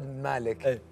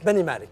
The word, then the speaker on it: بني مالك: ذكرياتك في حداد بن مالك يعني حدا. شوف انا بعطيك، خليك تنطقها صح. نعم، حداد بن مالك. بني مالك.